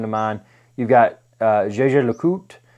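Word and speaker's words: Jaeger-LeCoultre: mind you've got uh jj le coute which is it looks like it's spelled like jaeger lecoultra they had the reverso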